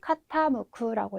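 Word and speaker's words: 傾く: 그래서 덜어내다라고 하는 의미의 제자이고 노조구라고 읽어주시면 되겠습니다. 의미는 빼다 제외하다가 되겠고요. 네, 마지막 여기 맨 아래 있는 거는 카타무쿠라고 읽으셔서 기울 경자거든요.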